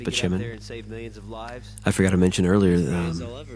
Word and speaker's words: Spaceman: Spaceman, but pronounced Spachimin.